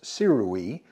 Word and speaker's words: Sirui: is this ball head this is by Sur which you would pronounce sirui apparently to pronounce Sur I